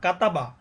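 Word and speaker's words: كَتَبَ: যেমন এখানে একটা শব্দ হয়ে গেছে, কাপ জবর কা, তা জবর তা, বা জবর বা, কাতাবা, নুন জবর না, ঝা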